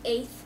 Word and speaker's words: A1TH: It's pronounced eighth.